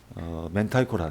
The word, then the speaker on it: 明太: 그래서 여기 이제 멘타이코라 멘타이코. 그 이제 멘타이가 콘의 이제 알이란 뜻이고 멘타이 요게 이제 맹태를 이제 일본식으로 발음하니까 멘타이 향이라고.